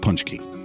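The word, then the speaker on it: pączki: And it's pronounced punch key.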